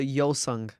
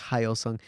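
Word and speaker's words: Hyosung: machine it's a haos or it's it's a yosang it's called yosang but a lot of people pronounce it like haung but it's a yosang um Halo 2 and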